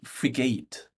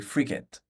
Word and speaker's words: frigate: Still frigate, with a short A, frigate, and an emphasis on the first, frigate, like the free gate, frigate.